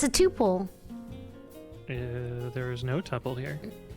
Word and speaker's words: tuple: Is it pronounced tuple or tuple? You can pick. I like tuple better. Well, then go for it. Because it rhymes with poop hole.